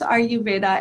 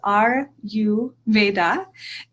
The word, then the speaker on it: Ayurveda: So you can pronounce Ayurveda as R-U-Veda, and that's an easier way to pronounce.